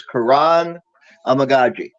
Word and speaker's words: Kiran Amegadjie: together from things yesterday the proper pronunciation is Kuran amaji I like to say